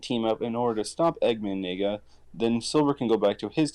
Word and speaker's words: Eggman Nega: It's pronounced Eggman Nega, so you said it right.